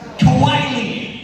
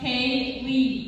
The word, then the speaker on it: Kaylee: mess with me liar kawaii is there a kawaii here do you mean kaylee it's pronounced k lee you want to go